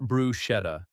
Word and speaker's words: bruschetta: Bruschetta, bruschetta, not bruschetta. The chant is a hard K sound.